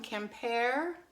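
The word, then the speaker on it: Quimper: ten dollars on it i picked up some compare i hope i'm pronouncing that right that's q-u-i-m-p-e-r french decorated dishware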